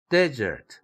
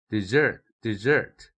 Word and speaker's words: desert: desert 첫 음절일 때에는 때 이렇게 액센트가 되죠. 그러나 두 번째 음절일 때는 desert S 사운드가 아니죠. 거의 슈아 사운드에 가까운 desert 이렇게 되죠.